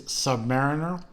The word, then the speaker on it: Submariner: had a controversy of how do you pronounce the words is it submarine or is it Submariner I think we established uh the overall consensus is it is Submariner although he did find